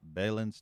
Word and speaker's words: Balin: leave the death cult balin's Testament I prefer Bellin but Balin is how it's properly pronounced wow he actually ran